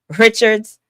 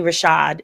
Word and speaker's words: Richard: Richard's uh and it's actually Rashad is how she pronounces it.